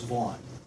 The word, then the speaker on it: Vaughn: My name is Vaughn, with a long A.